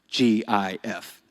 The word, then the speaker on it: GIF: The correct way to say it is GIF, just like the peanut butter.